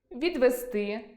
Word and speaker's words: відвезти: У всіх словах на -сти, -зти наголос падає на и. Прочитаймо деякі з них: відвезти, відвести, віднести, довезти, довести, донести, завезти, занести, завести, навезти, навести, нанести, привести.